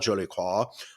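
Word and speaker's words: Jolicoeur: listeners of this show David Joe Lacroix j-o-l-i-c-o-e-u-r jolequah um he passed away and his team over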